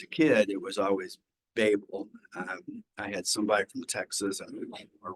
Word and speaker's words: Babel: the Tower of Babel, or Babel, as the professors pronounce it. When you get in and actually research it, and you listen to people who are talking about the Tower of Babel, it is Babel, not Babel.